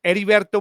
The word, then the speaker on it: Heriberto: But it's Heriberto Mendez.